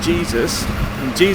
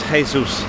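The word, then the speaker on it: Jesús: And although it says Jesus is not how you say it in Spanish, it's Jesus.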